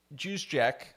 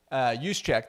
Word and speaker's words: Juszczyk: Fullback Kyle Juszczyk, oh wow, I just butchered his name. Juszczyk, there you go, said he assumed the 49ers